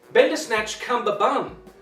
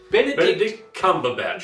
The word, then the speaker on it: Benedict Cumberbatch: Bender Snatch Cumber Bun.